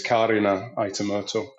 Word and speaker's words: Karina Aitamurto: It's the name Karina, but it's Finnish, so it's Karina Aitamurto.